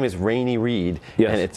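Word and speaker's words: René: It's a French-Canadian name, and in English it's pronounced, but in French it's Rene.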